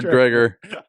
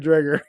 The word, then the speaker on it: Dreger: I Darren Dreer Darren Dreger he tweeted that good old Darren drer and Hazel Ma mazeltov I pronounced all the letters in his name that's the problem so it should be dredger Dreger yes but the it's